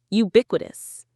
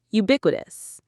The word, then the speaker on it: ubiquitous: This is a fantastic word. Ubiquitous. Ubiquitous. The stress is on B.